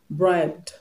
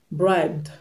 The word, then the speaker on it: bribed: So the last sound b is a voiced consonant. It's among the list that I just gave you. It's a voiced consonant. So you are going to pronounce the past tense marker, the d that will be added to it to make it past tense. You're going to pronounce it as d, bribed, bribed, begged, begged,